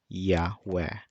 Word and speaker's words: יה: a as in apple so pronouncing this entire word now makes it yah of course Hebrew you